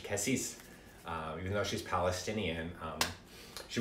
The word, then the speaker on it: Cassis: I pronounce her name in like French, Cassis.